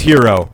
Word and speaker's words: gyro: bowls giro yeah yeah she pronounced a gyro no gyro I'm smart enough to know it's hero right but I don't